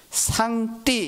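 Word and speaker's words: 上帝: 바로 옥항상제, 상제라고 번역했는데, 중국 사람들은 발음하기를 상띠 이렇게 번역을 하고 있습니다.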